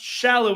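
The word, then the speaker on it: Sallói: way everybody out there it's pronounced shallow there's supposed to be a little Accent on the top of the eye but I don't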